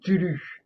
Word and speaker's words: Cthulhu: Cthulhu. Tulu. Cthulhu. Alors, Que t'es Prononcé à la japonaise, évidemment.